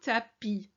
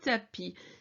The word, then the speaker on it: tapis: Asseyez-vous au tapis. Au tapis. The I sound in French is an E. And the S on the end of the word is silent.